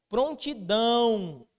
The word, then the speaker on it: prontidão: Prontidão. Qual que é a posição da sílaba tônica? Oxítona. Por quê? Porque é a última, né?